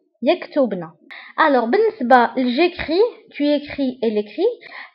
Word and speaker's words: écris: alors بالنسبة j'écris، tu écris، elle écrit، فلا terminaison كنكتبوها ب s ولكن ما كنطقوهاش.